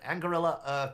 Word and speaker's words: Anguilla: on that table, but Retropixel Digital and Anguilla, that is how it's said. Oh, I'm gonna get so bit out by my boss. Anguilla Game Studios, two incredible local companies.